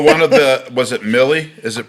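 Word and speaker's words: Milley: i'm going well one of the was it millie is it pronounced millie general milly yeah is that who the rhymes would silly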